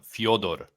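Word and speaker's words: Fyodor: yeah as a slav as a Slavic guy I'm going to tell you right now that's pronounced Fodor Fodor okay I believe him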